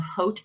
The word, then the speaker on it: Haute: It's called Haute Ohio, like Haute Couture, and it's spelled Haute, Ohio.